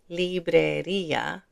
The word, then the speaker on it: librería: farmacia Notice here librería, there's an accent mark on that i, so we separate these two sounds, i-a, librería, but there isn't one here.